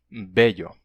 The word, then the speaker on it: bello: Então, o L reforçado que a gente tinha, por exemplo, em belo, né, um L duplo belo, em espanhol, esse L se palatalizou e ficou bello, bello, certo?